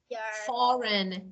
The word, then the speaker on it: foreign: let me give you for example you can say campaign yeah that is yeah and you can see a sign or sign foreign yeah all of them are silent G so let me okay